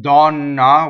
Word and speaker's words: donna: nose so for instance dawn na we've already done it as a stressed oh and it's open right so but SAP a